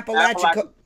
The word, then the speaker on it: Apalachicola: Yeah, Apalachicola.